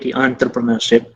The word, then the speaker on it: entrepreneurship: It is spelled as ENT but normally pronounced as ANT, entrepreneurship.